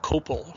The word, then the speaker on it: copal: of those resin compounds into amber is called copal, which is spelled C-O-P-A-L.